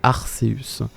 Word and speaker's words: Arceus: vois sous mes yeux la version japonaise il est bien écrit qu'elle se prononce à luz et us à l'océan arseus et c'est un seul sait pas que c'est bien ce problème donc on devrait l'appeler arseus et met à en